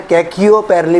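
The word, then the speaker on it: Khecheopalri: इसको प्रोनाउंस कर लेना, कैचियोपेरली पढ़ लो या कैचियोपेरली पढ़ लो, ठीक है ना।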